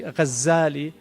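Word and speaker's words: Ghazzali: Some say his name is actually Ghazali with a shadda from Ghazal, which is a carder of wool, which is what his father did, and others say it's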